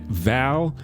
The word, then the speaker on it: Val: Val? It rhymes with Hal.